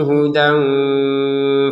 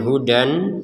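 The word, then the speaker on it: هدى: Kemudian hudan ya kita kalau berhenti terbacanya huda ya. Minni hudan itu kalau kita berhenti minni huda. Jadi yang benar huda kita baca dua harakat panjangnya karena berhenti.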